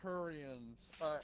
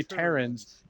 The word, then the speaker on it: Turians: people turians turians okay it was turians sorry i wasn't saying it right yeah so when you say terence taran is like what